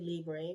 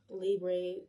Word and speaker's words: Libre: And yes, I pronounced it Lieb because that is how I was told by a YSL employee at the fragrance counter that the correct pronunciation is. And a lot of people say Libre, which I used to say too. I don't know. I think Libre sounds more accurate, but back to this.